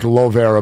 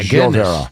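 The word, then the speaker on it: Llovera: Yeah, it's pronounced, it looks like Lovera, but it's Joe Vera.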